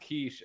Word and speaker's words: quiche: And then I found out it was pronounced quiche, and then it still is one of those words that I now pronounce like an idiot because I think it's funny.